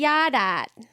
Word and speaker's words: yard art: And it was YARDART. Yadat. Yard art.